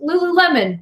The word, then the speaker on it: Lululemon: years until somebody let me know that it's pronounced Lululemon just normal and I had at your friend